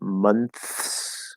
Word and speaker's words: months: Okay, so it's supposed to be months. So you have an N, a TH, and an S.